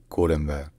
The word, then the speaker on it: Colombo: First, in Sinhala, it's Colombo, Colombo. And then, in Tamil, it's Colombo, Colombo. So, in Sinhala, Colombo, Colombo. And in Tamil, Colombo, Colombo. But in English, pronouncing it as Colombo is alright.